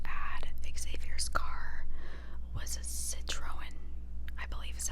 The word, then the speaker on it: Citroën: Just to add, Xavier's car was a Citroën, I believe is how you pronounce it, Citroën C5, and I'll put up a picture of it.